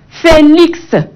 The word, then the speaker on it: Félix: Mais dans d'autres, hein, on dit la consonne muette peut se prononcer dans des mots et non comme index, Alex, Félix, hein, latex. Et là, on écoute notre consonne X à la fin de ces mots.